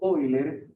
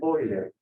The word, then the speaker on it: Euler: Esta representación de R, E a la I, teta, viene por un matemático llamado Euler, se escribe Euler.